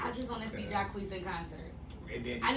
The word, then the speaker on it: Jacquees: And he got Jaquay, who was that how you say his name? Jacquees.